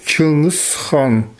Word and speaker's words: Чингис хан: Genghis Khan se prononce en yakoute comme Чингис хан.